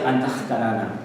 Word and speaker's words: Antahkarana: Bien, Antakarana, bueno, se pronuncia Antakarana, como Brahma.